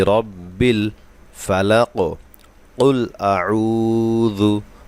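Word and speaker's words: الفلق: আসলি কুল আউজু বিরব্বিল ফালাক বিরব্বিল ফালাক দেখুন কফে কলকলা করতে হবে আমি কফে ওয়াকফ করেছি এ কারণে এখানে সাকিন করতে হবে এবং এখানে কলকলা করতে হবে কলকলা একটি সিফাতের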